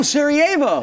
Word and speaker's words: Sarajevo: Oh, Sarajevo. Yes, that is the correct pronunciation.